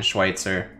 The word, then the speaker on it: Schweitzer: dr schweitzer there yeah that's actually how you say it if you're saying schweitzer this is a german word just saying or last